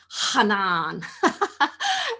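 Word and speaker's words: חנן: portion this week, and it's pronounced as that guttural Hanan.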